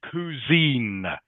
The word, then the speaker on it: cuisine: Okay, it's pronounced cuisine.